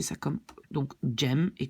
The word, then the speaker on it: jam: prononcer ça comme, donc jam, et comme on le prononce comme en anglais.